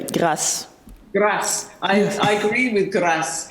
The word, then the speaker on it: Grâce: Grace. Grace. It's pronounced the French way. Grâce.